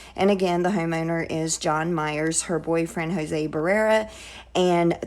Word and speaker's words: Jan Myers: Tamla arrived at Jan Myers, which I think she pronounces it John Myers, so I'm going to just say John Myers, but it is spelled Jan Myers.